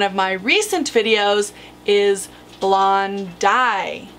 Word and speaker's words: blondi: this animal is actually blonde eye and correct pronunciation as I mentioned in one of my recent videos is blonde dye not laundy there has been a larger documented specimen than